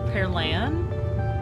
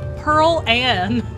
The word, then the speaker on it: Pearl Ann: Oh, Pearl Ann. Okay, well, I don't think that's our fault. I feel like you have to say it like Pearl Ann Scarlet. Like, you need to give a southern drawl.